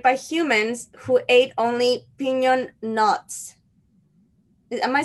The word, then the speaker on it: piñon: earth was populated by humans who ate only piñon nuts am I saying it right piñon nuts correct there's a bean yon tree and